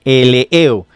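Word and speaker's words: ἐλεέω: ahí en el texto, es eleo, así, E-L-E-E-O, eleo.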